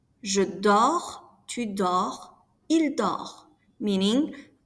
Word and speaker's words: dors: Je dors, tu dors, il dort. Notice that we do not pronounce the S or the T.